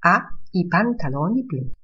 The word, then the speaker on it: ha: Franco ha i pantaloni blu. Powiem tylko, że literka H jest we włoskim nieczytana, niewymawiana.